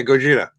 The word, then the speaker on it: Gojira: Yeah, Gojira.